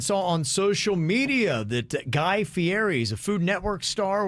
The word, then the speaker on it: Guy Fieri: got a dude named guy fieri is how you say his name yep okay all right